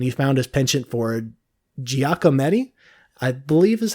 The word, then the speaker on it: Giacometti: Eventually, he switched to sculpture, and he found his penchant for Giacometti, I believe is how that's pronounced. Giacometti.